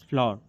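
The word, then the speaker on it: flour: Actually एक minute प्रोनंसिएशन same है but spelling is different. यह फ्लावर की स्पेलिंग है। That is अ फ्लावर। Shift the फ्लावर। फ्लावर correct प्रोनाउंसिएशन इज फ्लावर।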